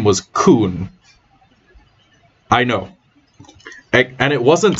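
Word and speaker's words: Khun: way everyone pronounced it sounded exactly like that one racial slur right i i would it sounded exactly like the word kun and that is probably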